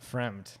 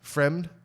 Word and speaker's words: Fremd: How do you say that? Fremd. Fremed. Fremd. F-R-E-M-D. Fremed.